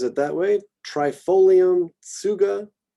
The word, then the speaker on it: Tsuga: Trifolium, Tsuga, so kind of a Tsuga. Roll them together. Some people might just go with the S sound there. Suga.